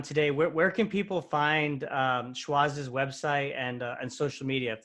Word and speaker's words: Schwazze: And let's spell it out for them. So so it's SCHWAZZE, Schwazze.